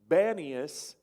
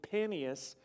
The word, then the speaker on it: Banias: So Banias is actually Panias, which is, it was kind of the seat of Pan worship, the pagan god.